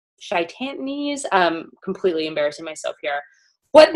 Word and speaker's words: chitinase: seen it written out, it looks like chitinase. C-H-I-T. That's not how you say it. Chitinase.